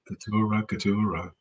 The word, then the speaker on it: Katura: Katura. Like fiesta. A 3-syllable word.